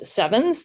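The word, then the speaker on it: CEvNS: is a process um which we pronounce sevens these days um where you have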